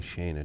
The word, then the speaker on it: Shaina: Shaina, it's spelled S Han Na. Doesn't say Shaina to me, but uh they're going